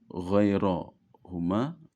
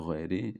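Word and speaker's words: غيرهما: mengikuti Zuhri ya kemudian ghairo Huma tidak ghairi tidak gir tapi ghairohuma dan selain zuhriah dan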